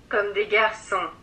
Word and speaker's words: Comme des Garçons: First, let's hear how it's supposed to be pronounced. Comme des garçons.